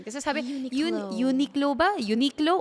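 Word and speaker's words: Uniqlo: By the way, nako-confuse ako sa paano yung tamang pronunciation non kasi sabi unique low ba? Unique low o ano?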